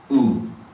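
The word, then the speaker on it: 우: This is oo. Oo, as in blue, okay, or shoe. Okay, oo. I generally write it phonetically like that, but whatever works for you. Okay, oo. But it's not, don't get confused with cute, like the U sound. It's just an oo.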